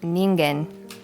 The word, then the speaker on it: Ningen: So it is Japanese, and it's Ningen.